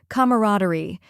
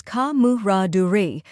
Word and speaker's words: camaraderie: The correct pronunciation is camaraderie. Let's break it down. First, we have ka, which sounds like comma without the ma at the end.